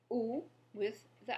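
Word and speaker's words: où: Ou with the accent grave has the same pronunciation, but the word now means where.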